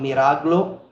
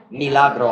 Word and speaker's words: milagro: So would that be ang miraglo? I always mispronounce miracle. Milagro. I always flip the L and the R.